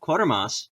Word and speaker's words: Quatermass: Quatermass, it's spelled like Quater, but without the first R.